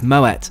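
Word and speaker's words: Moët: a refreshing glass of Moet yes before you say it's pronounced with a hard T thanks to its Dutch Heritage and founder Claude Moet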